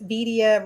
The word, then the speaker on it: Vidia: And it's Vidia rhymes with Oh, media.